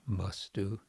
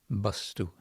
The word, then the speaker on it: vastu: typical for Bengali, where the V, as in Vaishnava, and the B as in Balaram, are all pronounced as B as in Balaram. This would be Bengali, so we get Bastu instead of Vastu.